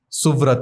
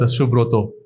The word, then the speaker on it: Suvrat: So Satyavrat, which is Shatyabrat, or Suvrat, Shubroto, they are fine with such names, which is good. Even though the pronunciation is the Bengali pronunciation, not the Sanskrit pronunciation, but that's okay.